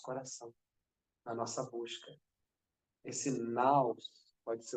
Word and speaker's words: nous: Então, quando ele fala nous, a pronúncia correta é naus, é a centelha do infinito, é a partícula de tudo, é a essência de tudo.